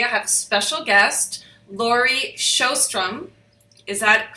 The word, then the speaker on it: Laurie Sjostrom: and today I have a special guest Lori shostrum is that correct I said it correctly absolutely